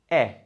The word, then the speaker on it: è: This one is E. It's spelled, it's an E with an accent. it's pronounced e, it's the open one.